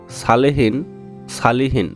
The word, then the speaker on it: সালিহীন: Viewers, এই ভিডিওতে সালেহীন নাম সম্পর্কে জানব। সালিহীন নাম দুটি উচ্চারণগত ভিন্ন হলেও অর্থের দিক থেকে একই।